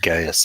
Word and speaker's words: Gaius: It's pronounced Gaius anyway.